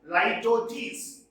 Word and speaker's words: litotes: This is pronounced as litotes.